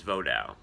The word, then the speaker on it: Vodou: what I follow is vodao that's that's how you say it it's a French word but it means a